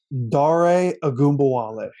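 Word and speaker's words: Dare Ogunbowale: leave that to you say his name one more time dare a goomba is that how you say it that's how you say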